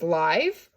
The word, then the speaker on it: live: can say this is live or i can say this as live it's liv then it's the e is still silent but it's short so it's a vowel